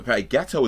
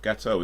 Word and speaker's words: gâteau: Gâteau is actually French. I'm pretty sure gâteau is French for cake.